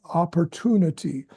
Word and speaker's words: opportunity: the probably, probably, and opportunity. In most cases, the emphasis is not on the p syllable, p. So it's a very soft p, probably, opportunity, p there.